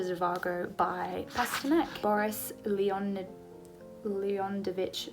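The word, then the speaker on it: Zhivago: one I have uh Dr zavago oh I'm saying that wrong someone told me how to say it when I talked about this book and I've completely forgotten I'm sorry that's just dropped into my rain and been lost so it's Dr zivago by fasternak Boris Leonard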